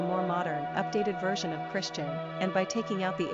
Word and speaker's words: Cristian: Pronunciation, Christian.